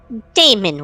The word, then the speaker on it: Daemon: Lord Captain, would you have us execute this Daemon worshipper? Technically, the A is silent in that. I've recently found out. I don't know why. I guess they just wanted to be different, but whatever, right?